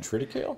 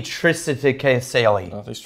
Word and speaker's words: triticale: Triticale? It might be triticale as well. Is it triticale? No, it's the C is pronounced like an S.